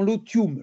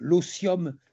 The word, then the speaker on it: otium: Je dirais que la GOA vit dans un monde où la recherche numismatique pratiquée dans l'otium, l'osium si je prononce à la française, non pas le farniante mais l'otium, l'osium, c'est le loisir studieux et culturel.